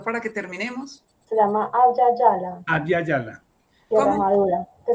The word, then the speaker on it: Abya Yala: Abya Yala. ¿Cómo es? ¿Tú cómo lo pronuncias? Abya Yala.